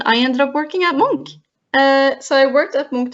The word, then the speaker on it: Munch: do you pronounce monk that's how you pronounce it monk so an advert monk it's it's a lot of fun because many people say munch which is not the case but also Norway